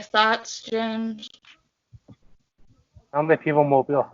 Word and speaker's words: Mobile: It's It's pronounced Mobile.